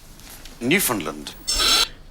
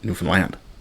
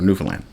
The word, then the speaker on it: Newfoundland: New Finland.